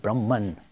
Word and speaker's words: Brahman: The Sanskrit pronounces it Brahma, but in English we make it Brahman, and Atma becomes Atman.